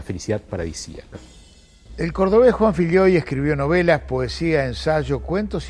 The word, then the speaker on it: Filloy: Filloy, era gallego.